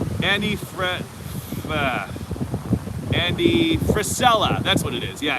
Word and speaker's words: Frisella: andy thank you josh andy how do you pronounce his last name annie fred andy frisella that's what it is yeah andy priscilla um